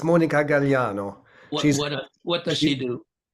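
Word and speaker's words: Gagliano: it gagano on plant you don't pronounce the G it's mon galano what what does she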